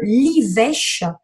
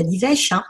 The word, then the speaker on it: livèche: C'est l'huile essentielle de l'ivèche racine. Alors l'ivèche, ça s'écrit L-I-V-E-C-H-E.